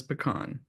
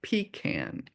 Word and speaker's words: pecan: The proper pronounce pronunciation is pecan, not pecan as it is pronounced in the south.